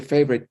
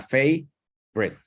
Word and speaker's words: favorite: como si se brincara la O, ¿cierto? Correcto, sí, se la comiera. Se come una sílaba y queda favorite. Favorite.